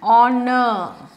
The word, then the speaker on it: honor: Same way, an honor or honorable. He is an honorable man. Okay? An ear, Y is silent.